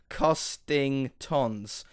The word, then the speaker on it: Costingtons: I do know, if you read it slowly and properly, it says Costingtons, as in it costs a ton.